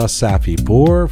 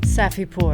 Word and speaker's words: Safipour: Hey, a big thank you to Hamid Reza Safipour for helping to make this episode of Roqe get to your ears and eyes. Hamid Safipour, Luxury Custom Homes. Say the name Safipour, Keon. Safipour.